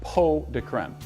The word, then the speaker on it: pots de crème: to be making chocolate po de creme it spelled pots de crème but it's actually pronounced po de creme and it reus it